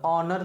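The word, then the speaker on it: honour: आवर पढ़ते हैं एच मेरा क्या होता है साइलेंट होता है ऑनर पढ़ते हैं क्या पढ़ते हैं ऑनर एच साइलेंट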